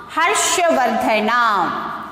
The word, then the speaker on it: Harshavardhana: How to pronounce this? Harshavardhana. Harshavardhana.